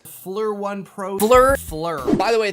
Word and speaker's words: FLIR: And finally, I received a thermal camera from a company whose name I can actually pronounce. Fleur1 Pro.